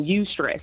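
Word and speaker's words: eustress: good healthy positive stress it's actually called you stress so you stress is spelled e-u-s-t-r-e-s-s and this is the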